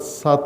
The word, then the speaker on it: سطح: اصل تلفظ اس کا لغت سات ہے، سات. جیسے فتح ہے، فتح کہتے ہیں ہم اردو لہجے میں، اپنے مقامی لہجے میں، اسی طرح صحیح تلفظ اس لفظ کا سات ہے.